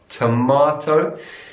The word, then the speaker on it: tomato: so that are so in British English the are son Tamar tomahto and then the vowel changes in American English tomato tomato and that T again turns to a decent tomato tomahto tomato and the difference is